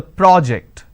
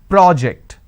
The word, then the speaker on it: project: and or project when I say project I'm using per o so when I have